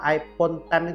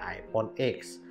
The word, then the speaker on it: iPhone X: kita lihat ya dulu iPhone ten itu dinamakan iPhone X ya jadi simbolnya bukan 10 tapi X bacanya sih tetep iPhone ten tapi ada orang yang ngomongnya bacanya iPhone X Nah kita enggak tahu